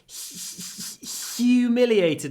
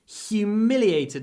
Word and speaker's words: humiliated: I like these words when you have H before a u sound the H is pron pronounced with our tongue usually it's in our throat but before you it's h humiliated me so it's a special kind of H humiliated me in front